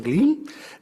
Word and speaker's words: Glim: el doctor Sebastián Glim, me dijo que había que pronunciar la I alargada, así que Sebastián Glim, él es especialista de